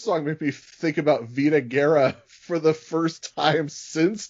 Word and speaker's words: Vida Guerra: Although he does pronounce her name as Vida Guerrera.